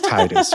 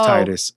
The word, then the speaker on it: Tidus: So I could see that, but no, it's Titus, right? Especially when you consider that he played Blitzball, he was in the water, tide. It's Titus.